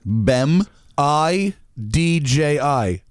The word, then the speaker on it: Bemidji: you pronounce this here's how it's spelled yeah it's spelled wait b b:e m BEM i DJ I been Bemidji been BM i DJ I and